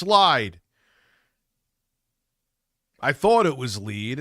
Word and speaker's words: Lied: it's just Rising they're just Rising Phillip it's lead okay and then people I say lead and they're like no it's lied I thought it was lead and then be